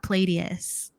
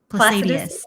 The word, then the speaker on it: Placidus: Whole sign and Palladius. Placidus.